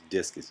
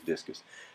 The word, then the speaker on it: Disqus: What I like to use is Digdig.